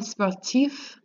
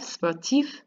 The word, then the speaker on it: sportif: And then you have sportif, you get to say that F, sportif.